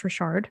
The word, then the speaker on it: Richard: a man named Frankie Rashard it spell Like Richard but you know we're in Louisiana it's pronounced Rashard apparently Frankie's going to